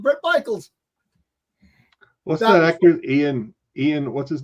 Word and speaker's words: Ian: all be worth it I only say that because it's weird when he pronounced his name ion I'm like Ian it's Ian when he makes an appearance